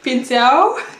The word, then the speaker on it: pincel: Pincel. Ja, L am Ende des Wortes spricht man U.